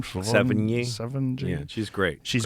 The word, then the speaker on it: Sevigny: Sevigny.